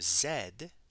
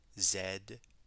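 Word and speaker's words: zède: teeth the french letter zed also uses the short e vowel it rhymes with the english word bed zed the french letter o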